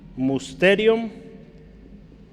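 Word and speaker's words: μυστήριον: Así es en griego, y eso se pronuncia, o su pronunciación es musterium. Musterium, esa es la pronunciación de esa palabra.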